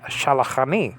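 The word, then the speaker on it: שלחני: Has sent me, and that's shalachani.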